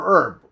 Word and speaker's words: herb: okay I say herb I don't say herb right but the age is silent for herb we just say the